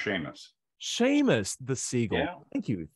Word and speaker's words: Seamus: common one one last one from uh CMOS Seamus siwo oh I'm sorry it's pronounced Sheamus Sheamus the seagull thank you thank you that